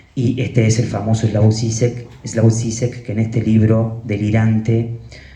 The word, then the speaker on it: Žižek: este es el famoso Slavoj Žižek, que en este libro delirante cita a Hahn